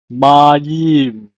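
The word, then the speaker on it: מַיִם: Leaf n the next word is water is pronounced as Mayim May the next word is egyp is pronounced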